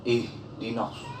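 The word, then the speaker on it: اهدنا: H tafhim dibaca tebal, sehingga cara membacanya ihdinas, keluar dari rongga mulut atau di pangkal lidah bagian dalam tenggorokan, tidak di lidah tapi di tenggorokan dalam.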